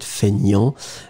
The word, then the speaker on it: feignant: So, feignant, but then we pronounce it feignant. And feminine form would be feignante, remember. So, masculine, you don't pronounce the T.